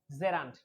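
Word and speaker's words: gerund: ক্ষেত্রে এটাকে আমরা বলবো জেরান্ট। কি বলবো? জেরান্ট। আমরা এটাকে অনেক ক্ষেত্রে বলি জিরান্ট, আসলে জিরান্ট না, সঠিক উচ্চারণ হচ্ছে জেরান্ট, নট জিরান্ট।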